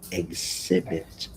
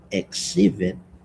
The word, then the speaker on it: exhibit: Now, the next word is exhibit, the EX. Exhibit, exhibit, example. It should be pronounced as eggs, like EGS, eggs. Example, exhibit.